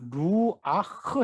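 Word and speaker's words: רוח: 루와 정확히 바라는 루아 아크가 되요 여기 으 루아흐 해놓고 여기에 꽉 막혀 쪄요 이 막히면 은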